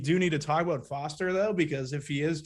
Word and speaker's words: Foster: that is uh faust faustin is that how you pronounce it foster foster foster awesome right i don't know